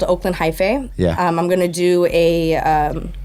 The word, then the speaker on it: Hyphae: There's an organization called Oakland Hi-Fi. Yeah. I'm gonna do a Spell that.